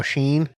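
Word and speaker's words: Chene: Oh, Sheen. It's like Sheen, but there's there's the other sheen that everybody buys from.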